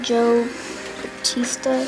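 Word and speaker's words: José Bautista: guy, I think, I don't know how to pronounce it, Joe Batista, that's how you pronounce it, of Toronto Blue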